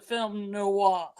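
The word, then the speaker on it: film noir: film Noah oh yeah de gr tells me I have to pronounce a film Noah oh yeah that would be the French pronunciation that's true so yeah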